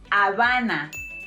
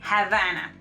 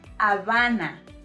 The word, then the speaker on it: Habana: of Cuba, it's pronounced Habana, or you know, La Habana, not Havana, alright? Habana. It's Habana because recuerda que la H es muda. Remember that letter H is silent.